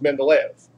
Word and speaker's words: Mendeleev: The guy who did this, by the way, his name was Mendeleev. That's how you pronounce it.